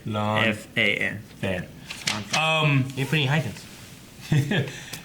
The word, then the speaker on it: Lan Fan: Lan Fan. Yeah, because the way I wrote it down phonetically in here, it's LAHNFAN.